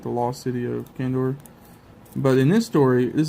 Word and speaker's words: Kandor: Is that how you say it, Kandor?